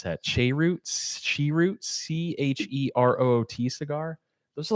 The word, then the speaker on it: cheroot: Shroot.